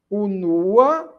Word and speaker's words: unua: Unua, primeiro ou primeira. Observe que quando eu digo unua, a sílaba forte agora passa a ser o segundo U, não é?